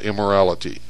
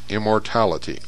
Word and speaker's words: immortality: name of the child it's immortality not immorality immortality psyche replied that with